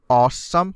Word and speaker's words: Alxum: I was told that this is read as awesome or well pronounced as awesome but I I don't really see this so how does this work it's Alex zoom al-ahly what I don't